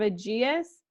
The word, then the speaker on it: Aegeus: How do you pronounce his name? Aegeus.